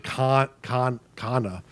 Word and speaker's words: Quania: It's actually Kana is actually the name, even though it's spelled with a Q.